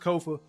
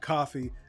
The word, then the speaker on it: Kofa: I am your humble host, Kofa, K-O-F-A, not coffee, not, not Kofi, or any variation thereof. Kofa rhymes with sofa, easy to say, easy to spell.